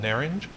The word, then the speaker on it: Narince: and this is called ner Inge it's spelled like would be naren's but I guess there's a slight j-ju H kind of at the end of it and so Turkish wine right